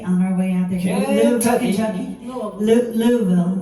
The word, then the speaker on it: Louisville: hometown of kentucky on our way out there louisville how do you say it you're still you